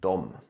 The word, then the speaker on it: de: comment on this is to never say "de" or "dem" Always say "dom" So for all other words is kinda optional how to say them but always say "dom", and not "de" and "dem" For example, "they haven't